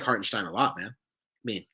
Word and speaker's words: Hartenstein: I think excuse me so heartenstein hartenstein excuse me gotta pronounce that in there he's a top 70